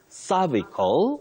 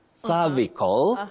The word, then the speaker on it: cervical: And Betty, there are two ways to pronounce that word. You say cervical, you can say cervical, you can also say cervical, and cervical. So it has two acceptable, if you like, alternative pronunciations.